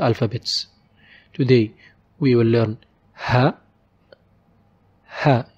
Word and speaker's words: ه: Today we will learn ha. Ha, it's like how we pronounce h in any English word, like hand for example.